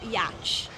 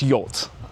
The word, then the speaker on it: yacht: It's not "yatch". Yes... It is not "yatch". It's "yacht". The pronunciation is far simpler than it looks. Yacht. Each yacht. Yeah, they should spell it like Y-O-T, my wife says.